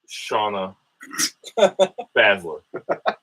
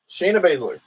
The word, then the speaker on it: Shayna Baszler: But all that being said, I will take Shauna Baszler. How do you say it? Shayna Baszler.